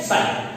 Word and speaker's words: Psi: साइन को लिखते हैं तो कैसे लिखते हैं, PSI, इसमें साइलेंट होता है, ठीक है, साइन।